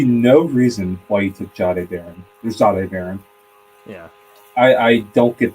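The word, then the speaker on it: Jahdae: So apparently it's pronounced Zade, not Jade.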